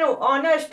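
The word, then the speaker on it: honest: A work worker an ऑनेस्ट worker ऑनेस्ट यहां पे ऑनेस्ट आ रहा है। ऑनेस्ट ये एच साइलेंट होता है।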